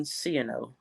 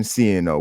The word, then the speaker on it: Scioneaux: It is Ciano, Cieno. We have like the yes, like the letters CNO.